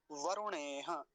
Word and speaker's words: वरुणेह: हाँ जी, यहाँ पर रेफ पर कैसा उकार है? ह्रस्व उकार, छोटा ऊ है, तो जल्दी ही बोला जाएगा। ये बड़ा ऊ नहीं है जैसे रूप शब्द में होता है या रूल शब्द में होता है, रूल वो वाला नहीं है। वरुणेह जल्दी ही बोला जाएगा, वरुणेह। और हकार का विशेष ध्यान रखेंगे, वरुणेह, ह ह पर लाकर अच्छे से समाप्त करेंगे इस शब्द को, वरुणेह, ऐसे।